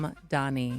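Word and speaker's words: Mamdani: Mom Donnie.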